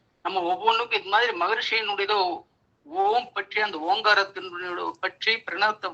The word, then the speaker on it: ஓம்: வேண்டும் என்கிறது நல்ல கவனிங்க ஓங்கார மந்திரம் மூன்று மாத்திரை கால அளவில் உச்சரிக்க வேண்டும் என்கிறது மூன்று மாத்திரைனா ஒரு மாத்திரைனா ரொம்ப இம் இருக்கு பாத்தீங்களா அந்த இம்ம ஒட்டி ஒரு மாத்திரை அப்ப மூணு மாத்திரைனா லேசாதான் ஓம் சொல்லணும்ங்கறாங்க இந்த ஏன் காரணம்னு கேட்டீங்கன்னா